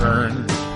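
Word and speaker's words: urn: wave that makes me quiver U is for earn but not like earning Mone V for Rays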